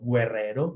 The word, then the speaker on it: guerrero: cuando sigue de U, tengo que ver si sigue otra vocal como E para saber que la U no se pronuncia. Yo no digo guerrero, digo guerrero, ¿sí?